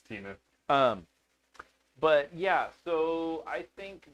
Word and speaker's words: Temu: The S is silent. They're Temu bikes. It's Timu.